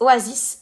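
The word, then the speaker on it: OASYS: coup OAS piano alors il a dit Oasi mais en fait c'est oasis alors ça s'écrit O A S Ys et après piano donc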